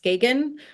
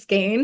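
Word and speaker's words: Skagen: together um up north in a place called skain which the rest of us pronounced skan but it's actually pronounced skain and and so they'll organize these trips to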